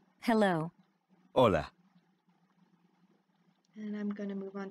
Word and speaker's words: hola: how to say hello hola and i'm gonna move on to the next did you notice that although hola starts with the letter h it is not pronounced the letter h is